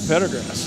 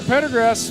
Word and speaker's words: Pendergrass: She redirected it right into the glove of Pedigrass. Pendergrass. Pendergrass. Sorry, I keep saying it wrong. Pendergrass said just like it looks.